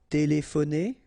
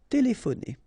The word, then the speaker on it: téléphoner: Téléphoner. Remember, P and H together will give you this F sound. Téléphoner. Téléphoner.